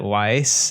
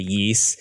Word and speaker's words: Ys: The first time I pronounced this series, I called it Weiss, and I know someone out there in the audience corrected me to Yeast.